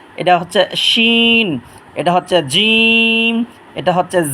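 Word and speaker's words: جيم: হচ্ছে খুব খেয়াল করবেন জিম উচ্চারণ হচ্ছে জিহ্বার মাঝখান তালুর মাঝখান যা উচ্চারণ হচ্ছে জিহ্বার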